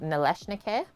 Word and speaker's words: Nalysnyky: So the one that starts with N is pronounced Nalysnyky.